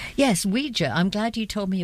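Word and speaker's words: Uyghur: Yes, Ouija. I'm glad you told me about the pronunciation of this because I I mentally I have it as yugo rather than anyway.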